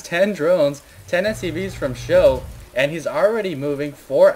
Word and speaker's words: SjoW: cats versus dignitas and it's pronounced show he's actually in the